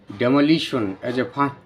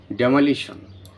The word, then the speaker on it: demolish: জোর হবে আর যদি ভার্ব উচ্চারণ করি তখন ডিমলিশ এম এর উপর জোর হবে ইউজিং ডেমালিশনে যে ফিউনিটিভ